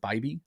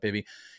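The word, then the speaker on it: Bibee: Tanner, I believe it might be said Bybee. Oh, really? Bybee. Yeah, that's what buddy Frank Stanfield told me that the pronunciation, we keep going back and forth about it. I thought it was Bibby.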